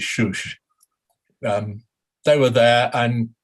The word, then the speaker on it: Susa: well i call it susa but i'm told that the iranian way to pronounce it is shush um they were there